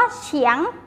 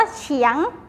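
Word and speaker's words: 墙: คำ นะ คะ คำ นี้ ค่ะ คำ ว่า เฉียง เฉียง เฉียง แปล ว่า กำแพง นะ คะ กำแพง บ้าน ใคร บ้าน ทุก คน มี กำแพง แน่ นอน ค่ะ ทุก คน มี กำแพง บ้าน นะ คะ อ่า อ่าน ว่า เฉียง เฉียง นัก เรียน ออก เสียง ตาม หลอ ซื้อ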